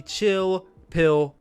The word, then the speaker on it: Chill Spill: It's going to be spelled spill, S-P-I-L-L, but we're going to pronounce it P-I-L-L. So, welcome to the Chill Pill Podcast, spelled with an